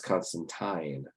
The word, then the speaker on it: Constantine: Is it Constantine or Constantine? And I read the article, and it coming from all the way from the creator Alan Moore, saying it is Constantine.